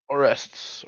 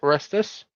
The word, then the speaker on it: Arrestus: Ma'am, you're real pretty, but Oh, it's pronounced Arrests. Arrestus. By the way, not arrest.